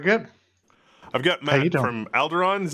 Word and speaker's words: Alderon: I've got Matt from Alderon. Am I saying it right? Alderon Games? Yeah, Alderon. So not the Star Wars planet, not to get confused.